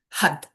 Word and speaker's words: Har: The sorry, the mantra is har, but it's pronounced had because we're flicking the tongue off the roof of our mouth.